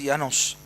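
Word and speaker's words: Llanos: Yanos Venezuela. It's pronounced as Yanos.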